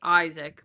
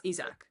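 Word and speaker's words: Isack: Like obviously I understand like in English typically it's pronounced Isaac, but like if you ask me it's Isach.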